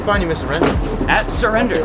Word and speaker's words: SIRWRENDER: if I just say it like that, they're not gonna get it. Yeah, I was like, wait. Oh yeah. Yeah, spell it out.